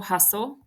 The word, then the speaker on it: hustle: them um this is an exception because the T and the E are silent so we can Circle hustle thistle castle and you